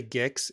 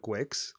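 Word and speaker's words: Guix: People say Gix instead of Gwix. Do they? I guess that makes sense. Just like a hard G with the I, like, let me think.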